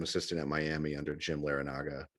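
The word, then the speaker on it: Larrañaga: at miami under jim larranaga lara naga i can never say his name right long a yeah okay so so anyway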